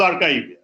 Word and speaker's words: arXiv: And he called it DNet 5, which if you go to archive, so it is spelled as ARXIV. So X is the Greek alphabet, which is chai. So it actually becomes archive.